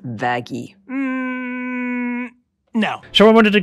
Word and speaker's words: Vaggie: Let's move on to Vaggie.